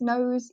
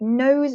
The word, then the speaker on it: nose: So for example, the word nose is a great example of magic E, making O, like a long O sound. It's not nos, it's nose.